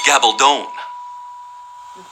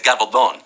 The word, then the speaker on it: Gabaldon: We ignorant Americans pronounce it Gabaldon. Gabaldon. Gabaldon. In Spain, it's Gabaldon.